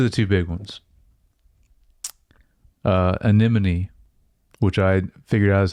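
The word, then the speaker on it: Anemone: Uh, Aneim, which I figured out is how you pronounce it.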